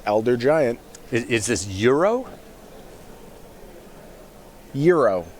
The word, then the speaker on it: Uro: Euro, I believe it's pronounced, like the sandwich. Yeah, like gyro for those of us who Euro.